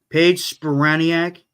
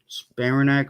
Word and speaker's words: Spiranac: Paige Spiraniak. Oof. Paige Spiranac. Ooh. Spiranac.